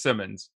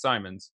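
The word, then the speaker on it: Simons: comes to the the end for me Simon's pronunciation I was told I was told definitively it was Simmons and I'm pretty sure that guy was just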